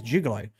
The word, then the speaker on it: juggalo: No, well, they say juggalo. I say juggalo, but I've been told it's jugalo.